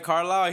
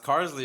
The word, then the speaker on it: Carlisle: Bro, I said that one time, like, oh, JAHMED Carlisle. He's like, nah, it's Carsley. And I'm like, really? That's Carlisle.